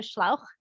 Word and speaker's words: Schlauch: So the German pronunciation would be like I just said, so Schlauch.